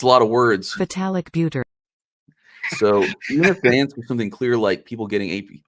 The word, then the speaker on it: Vitalik Buterin: Vitalik Buterin.